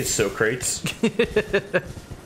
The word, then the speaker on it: Socrates: said in the movie they just don't know how to pronounce Socrates yeah but my favorite instance they call him uh so crates and then like when